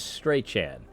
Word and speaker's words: Strachan: It's like you've heard of 4chan, 8chan. Well, this is Strachan.